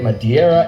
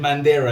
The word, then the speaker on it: Madeira: Africa, including the Canary, Madeira, and Azores Islands. By the way, you said Madeira, it's Madeira. Bro, why did everyone get that name wrong?